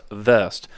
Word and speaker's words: Wurst: There's there's a lot of I mean worse is just it's really pronounced vest. Uh in German, uh everyone sees the W, but in German it's pronounced vest.